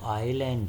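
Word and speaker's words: island: तो यहाँ पर जो आइलैंड है तो उसका जो प्रोनाउंसिएशन है आ से होता है हिंदी के, इसलिए यहाँ पर क्या होगा, एन होगा।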